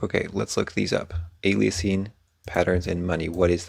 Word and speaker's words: aliasing: a passive feature, and aliasing, I need to look up how to say this word. Aliasing. Oh, duh, because it's the word alias.